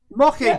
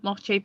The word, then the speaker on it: Moche: So today, I said the name wrong of these people, Moche people. The reason I didn't say mocha is because it wasn't spelt like mocha is in the coffee.